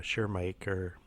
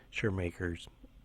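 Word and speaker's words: Schirmacher: about lakes there's the sure maker it's a German sounding name so sorry about the pronunciation here oh it's aces sure maker's schi RMA CH ER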